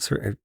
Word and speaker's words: Surtur: Is that how it's pronounced? Surtur. Yeah, Surtur.